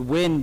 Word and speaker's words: Nguyen: is Nguyen um because in the U.S growing up people could not really pronounce my last name the way it should be pronounced in Vietnamese which is which is very difficult if you don't have a Vietnamese accent so growing up actually the word win became part of my brand name and I have a